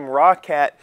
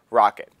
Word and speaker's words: Roccat: accessories I called them rockat because it is spelled r o c c a t uh the way they actually pronounce it is rocket the things that I